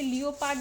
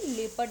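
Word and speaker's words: leopard: और इसे लियोपड नहीं लेपर्ड कहते हैं। ऐसे यहां पे मैं लिख दे रही हूं। इसकी प्रोनाउंसिएशन होती है लेपर्ड यानी कि तेंदुआ।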